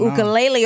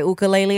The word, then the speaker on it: ukulele: your ukulele over there is that how you say it or how do you say I say I say uke I say do you really I say ukulele yeah when you're Hawaii say oka lei Li otherwise no did you